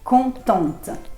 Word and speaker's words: contente: ว ท้ า ย ชั ด ๆ Content, contente.